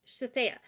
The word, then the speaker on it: Shithead: Well, they finally get up closer, and the girl's name was Shatea, literally spelled shithead, Yeah. but pronounced Shatea.